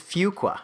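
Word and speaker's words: Fuqua: Well, they have this new quirk because they're a little bit frustrated that their candidates aren't able to pronounce Fukqua. It's fua.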